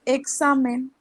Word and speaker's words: examen: más o menos tipo si separamos en sílabas ponele y se divide en tres la penúltima sería sería la del medio solamente en este caso de